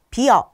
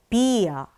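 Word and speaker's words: Bier: 그런데 이 에에 강세가 딱 있으면 이를 길게 발음해 주시면 됩니다. 예를 들어서요. 우리 독일하면 딱 떠오르는 거 뭐 있어요? 맥주 있죠? 맥주 같은 경우도요. 비어 이렇게 하지 않고요. 비어 이를 길게 발음해 주시면 됩니다.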